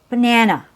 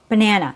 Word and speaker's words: banana: So the first syllable is weak B. It has a schwa sound B. The last syllable has a schwa sound also n. So you keep your mouth neutral banana. You don't have to say banana. Banana. We don't need to make every syllable with the same strength. Only one syllable is strong. The rest are weak. Let's move on to our next example.